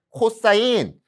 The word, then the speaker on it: 코사인: COS, 코스 아닙니다. 얘도 원래 여기 INE 이렇게 들어가 있는 거거든요. 다 약자라고 생각하시면 돼요. 읽는 방법은 뭐라고? 코사인. 코사인.